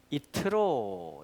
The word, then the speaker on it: יתרו: 이걸 뭐라고 하냐면은 이트로, 이제 히브리식으로 원문 발음대로 읽으면 여기 이제 하나가 들어갑니다. 이트로가 돼요. 한번 읽어볼까요?